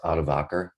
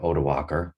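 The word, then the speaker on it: Odoacer: because the germanic leader that name is pronounced atovaker or odawakar you can do it either way literally removed top roman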